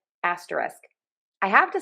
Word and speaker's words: asterisk: I have to say most of the time I drop the K at the end of this word and say asteris. So I was listening to other people. I do hear people say the K, but a lot of times I hear people drop that K.